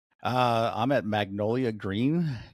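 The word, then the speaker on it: Gruene: Uh, I'm at Magnolia Green. Green is spelled G R U E N E just like green Texas.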